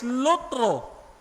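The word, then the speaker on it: λύτρον: mga kapatid o ang Greek word is lutro with a long o lutro no to release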